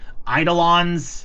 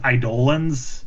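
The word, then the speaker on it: Eidolon: We were calling them idolons and then suddenly the pronunciation was idolans.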